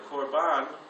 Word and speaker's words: korban: sacrifice in Hebrew is korban. And a korban, sometimes pronounced korban, it sounds like carbon sometimes.